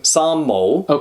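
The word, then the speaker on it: 三毛: I'm going to be saying Sanmao, because that's how you pronounce it in Cantonese.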